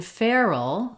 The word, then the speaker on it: feral: more like two syllables in feral feral we actually do want to have two syllables feral all and so